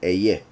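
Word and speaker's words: אהיה: So that's why some say haya, some say eyeh. I repeat, I believe for several reasons that it should be eyeh. That means that this pronunciation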